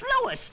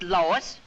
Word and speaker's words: Louis: Me name is Louis, not Lois. Gee whiz, everybody interpolates me name wrong. It's Louis. L-O-U-I-S.